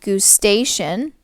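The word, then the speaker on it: gustation: are there for taste the term for taste is gustatory or GU station that's spelled with a G there I'm gonna write that down for you so Goose station is the term for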